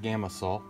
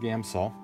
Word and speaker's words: Gamsol: saw I don't know it's not gama salt gamsol I put an extra syllable in their game saw you can